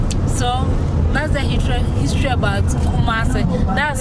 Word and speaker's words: Kumasi: Kumasi. Let me pronounce it correctly. Kumasi.